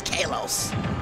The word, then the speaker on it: Kalos: It's Kalos. Right. They hate when you pronounce it.